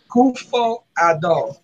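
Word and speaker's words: Akufo-Addo: Kufo Ado.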